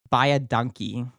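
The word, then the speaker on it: baie dankie: And then the way you say thank you very much, for instance, is very easy. Imagine the saying buy a donkey and then just sort of like flatten the vowels. And it sounds like buy a donkey.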